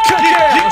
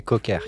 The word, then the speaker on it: Köker: Et Köker, K-O-K-E-R. Attention, Köker. Hein. Köker, on Parce dit, que ça se prononce.